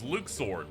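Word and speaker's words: Luxord: all right you up top yeah yep his pronunciation is Luke sword they decided to not uh ever say his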